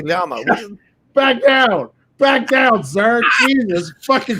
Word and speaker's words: llama: Yama is how you say it in Spanish, motherfucker.